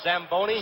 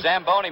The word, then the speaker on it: Zamboni: how high it is it's Italian you should have pronounced it what does it call the samboni Zamboni machine and Joe you and